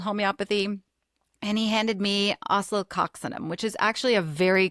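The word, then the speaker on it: Oscillococcinum: It's pronounced oceloxinum.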